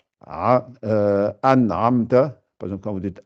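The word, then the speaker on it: أنعمت: Donc, c'est pour ça et ensuite, l'autre cas où il faut faire attention, quand c'est le A et le Aïn qui se suivent, souvent aussi, on les prononce mal. Donc, faites bien an'amta.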